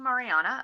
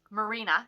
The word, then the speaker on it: Marina: So the first book I finished this week was Saving Mariana, or not Mariana, Marina, Saving Marina.